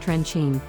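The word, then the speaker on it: Trenčín: Once you get near the regional seat in the western Slovak town of Trencin, pronounced Trencin, you can't miss the castle overhanging the Old Town Square.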